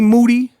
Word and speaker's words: Moody: first me and Moody last name rhymes with duty the three time podcast